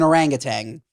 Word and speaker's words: orangutan: First of all, he pronounces it orangutan. It really bothered me. It's an orangutan.